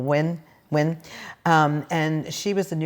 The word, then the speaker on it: Nguyen: And it's pronounced, even though it's spelled Nguyen, it's pronounced like when or win.